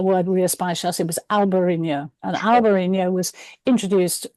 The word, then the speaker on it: Albariño: I say British people, still say Albarino. And I'm like, look, it's got a tilde on the top. It's Albarino. It's much more fun to pronounce.